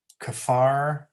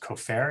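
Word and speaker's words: כופר: the hebrew it's um kefar the e-car and and it's really supposed to be pronounced co-fair it's kind of like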